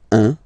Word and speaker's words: un: All right, so when you combine this u and n, you get the nasal sound 1.